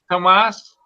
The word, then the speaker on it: Tomas: Oh, Tomas. Good I morning. had to make sure I pronounce it correctly. It's pronounced like it's spelt right on his name there.